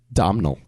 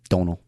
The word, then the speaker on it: Domhnall: Domhnall. No. Domhnall? Donal.